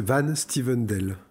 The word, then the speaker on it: Van Styvendael: On continue avec Cédric Van Stuyvendal. J'espère que je prononce correctement. C'est plus simple, c'est Van Stuyvendal.